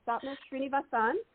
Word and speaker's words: Sapna Srinivasan: Well, for everybody who's listening, I've been talking to Sapna Srinivasan. Is that I say it right? Perfect. Yay. Because I phonetically spelled it out for myself right there. So Sapna Srinivasan, and her book is out now, A New Mantra.